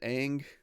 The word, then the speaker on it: Aang: Is it Aang?